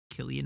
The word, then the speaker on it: Cillian: and any anyhow that one says I know it's stupid but it's a hard k ilian ah okay all right I I accept it I want to pronounce names correctly Killian Murphy I didn't know